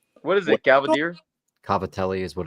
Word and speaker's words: Cavatelli: good it's better Richard have you ever had Gava deals I don't even know what the that is so no I have not what is it caver Cavatelli is what it's like spelled like what is